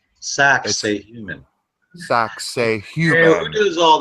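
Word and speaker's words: Sacsayhuamán: You know, I also want to point out, just for fun, see how Sacsayhuaman is spelt? Yeah. Sacsayhuman, almost. That's right. That's right. Sacsayhuman.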